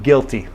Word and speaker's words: guilty: are long I, and then a short I in guilty.